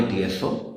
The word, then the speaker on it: Tso: आगे TSO दोनों के याद रखना। वहां पर टी को प्रोनाउंस नहीं करते।